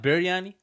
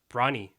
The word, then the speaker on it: biryani: it's proper- BIR, right? Biryani. Yeah, Biryani. yeah. Biryani. Biryani. Yeah, I exactly. I just said it correctly. Yes. Yeah. Okay. Yes. yeah, yeah, But you then, said it right. wait, I think my parents, because of Malaysian thing, they call it brani.